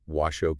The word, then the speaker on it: Washoe: Washo County okay which by the way is pronounced Washo County oh show yeah not was show interesting anyway we found this really fascinating article